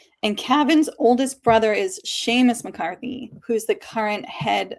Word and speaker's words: Seamus: I love it's pronounced Sheamus, right? I always want to say Seamus because it's spelled that way and Jessica's like, "No, it's Sheamus.